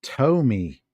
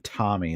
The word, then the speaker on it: Tomy: Tommy made in Japan ah pronounced Tomy Tomy okay gotcha cool thank you for that I would have just continueed saying Tommy like all Americans would say it Tommy cool don't set him